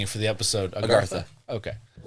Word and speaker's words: Agartha: Agartha. Okay. There's multiple different pronunciations. There's Agartha. That's a tough one, but then there's Agartha.